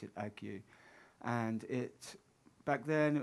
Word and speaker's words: ague: p it's a it's like plague without the p and the l on on the at the start, but you pronounce it ague.